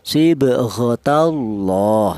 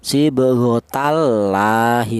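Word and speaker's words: صبغة الله: Yaitu cara bacanya lafal Allah itu dibaca tebal. Ya sibghatallah seperti itu. Tidak boleh dibaca tarkik. Apa itu tarkik? Tarkik itu tipis. Seperti contoh sibghatallahi tidak boleh ya.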